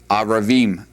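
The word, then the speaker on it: ערבים: All right, the word for evening is pronounced erev. Erev. Notice the accents on the ayin there. The plural, aravim.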